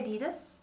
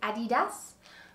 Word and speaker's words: adidas: good old friends at adidas so i say adidas some people say adidas i'm gonna say adidas just because i feel like it and i think that that's the right way to say it adidas but i needed